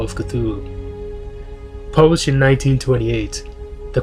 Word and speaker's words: Cthulhu: ones the great dreamer cthulhu or as i said to be pronounced in the tongue of the old ones kalahu is a great old